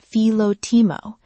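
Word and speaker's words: φιλότιμο: You may hear it pronounced "fee-lo-tee-mo".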